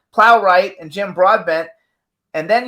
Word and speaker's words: Plowright: did with me and Pharaoh Natasha Richardson Joan plone right plowright and Jim Broadbent and then you did a